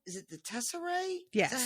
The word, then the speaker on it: Tesserae: It's called, is it the Tesserae?